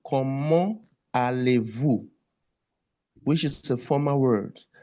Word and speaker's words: Comment allez-vous: But when you want to pronounce, you will liaise T and A, become ta. Comment allez-vous? Comment allez-vous? You see the T and A, we now liaise. There's a liaison between T, A, ta.